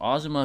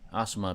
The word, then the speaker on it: Asuma: though what if Asuma beat hidon uh if Azuma beat heedon Asuma let me say it right Asuma beat hidon kakazu would probably intervene um or